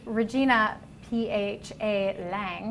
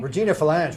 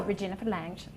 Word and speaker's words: Regina Phalange: Cut straight Actually, I read that wrong. It's Regina P.H.A. Lang. Regina Phalange, we love her. Oh, Regina Phalange.